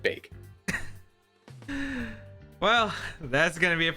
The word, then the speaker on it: Baek: I could I'm hoping I kept going from back to bake it's bagged I hear it all the time I hear it all the time but I can't help but pronounce it bake well that's gonna be